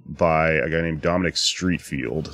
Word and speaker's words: Streatfield: a guy named Dominic Streatfield, spelled S-T-R-E-A-T, F-E-I-L-D. It's very confusing, his last name. Cocaine name. Yeah. Street, not spelled like street. Field, not spelled like field.